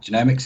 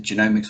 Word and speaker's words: genomics: First thing, then the question that often crops up when people engage with genomics is it genomics or genomics? And it doesn't matter, you can say either. They're both equally valid.